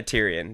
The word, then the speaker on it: Tyrion: will be taking tyan Lannister yeah that a Tyrion that's a easy pick for me he's no